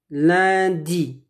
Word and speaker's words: lundi: Lundi. On ne prononce pas le N.